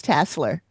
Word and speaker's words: Tasler: I keep wanting to say Tasler because there's only one S, but Tasler. And I have some photos of him. Tasler. Which one is it? I'm confused now. It's Tasler. That's how they pronounced it in the show.